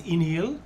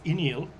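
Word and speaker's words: Uí Néill: So there's Iníl, which is spelled U-I with a little over the I, space, N-E with a little over it, I-L-L. That's Iníl.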